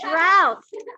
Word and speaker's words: drought: the sheep okay so droughts are also something we deal with in colorado a drought rhymes without is a dry period